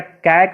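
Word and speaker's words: cake: अलग कर देते हैं, सी ए के ई, तो इसको हम लोग क्या पढ़ेंगे, यहाँ पे तो हम लोग ए पढ़े थे इसका उच्चारण हैट, तो इसका हम लोग क्या कैक बोलेंगे, कैक नहीं, अब यहाँ पे इसका उच्चारण हो जाएगा ए, केक।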